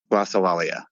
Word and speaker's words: Glossolalia: Is it Glossolalia, or is that totally wrong? Glossolalia. Glossolalia. At least that's how I pronounce it.